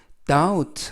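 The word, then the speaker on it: doubt: 룸 보러 다운 우 이때 발음의 조심 하실 것은 따 웃 할 때 b 발음이 묵음 즉 발음이 되지 않습니다 그래서 발음 하실때는 b 를 빼고 발음 하시고요 다음 우 그다음 라고 발음 하시면 되겠습니다 뜻은 동사로 의심하다 그리고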